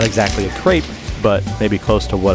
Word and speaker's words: crepe: cabbage still not a crepe though I know you're supposed to say CREP but that sounds weird to me I mean like how